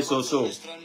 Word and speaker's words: Soso: D'autres parties s'appelaient Soso. Il faut prononcer ça même en malinqué Soso. Ça, c'est malinqué Soso. On dit Soussou en français.